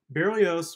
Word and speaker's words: Berlioz: period the French composer Hector Berlioz he is pronounced Berlioz was not your typical romantic at least in